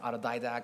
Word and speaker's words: autodidact: what if everyone became an autodidact and it's pronounced autodidact and out of didacticism okay so what if